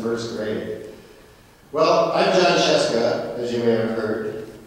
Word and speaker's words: Scieszka: I was in first grade well I'm John chesa as you may have heard author of uh